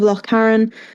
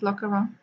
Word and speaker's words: Lochcarron: Looks like Loch Aaron. Loch Aaron. Loch Loch Karen? Okay. Loch Aaron. Sounds so much All better. one word.